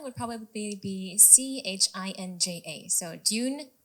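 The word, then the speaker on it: 진짜: want to hear the spelling would probably be c h i n j a so June chinja Dune chinja like perfect perfect here we go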